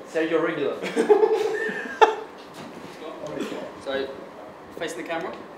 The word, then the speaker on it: Reguilón: Reguilón. Sergio Reguilón.